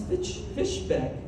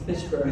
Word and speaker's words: Fishburne: Neil and I both worked on Pee Wee's Playhouse, where Lawrence Fishbeck was also nominated the 67. Did I say it wrong? It's Fishburne.